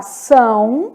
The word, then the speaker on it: são: E aqui, ó, vamos colocar são, pronunciado pelo nariz, muito, que é um ditongo que nasaliza esse i, né, muito. Então, são, muito, pronunciados aí pelo nariz, vamos colocar mais um, coração.